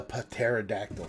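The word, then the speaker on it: Pterodactyl: this one is the Patera dactyl I know you don't pronounce the P but you know what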